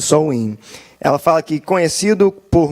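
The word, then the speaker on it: Samhain: paganismo e irlandês no festival de soin a pronunciado Sol in ela fala que conhecido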